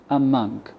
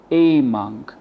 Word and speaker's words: among: So we replaced the a with a schwa, among. We don't say among, no, among.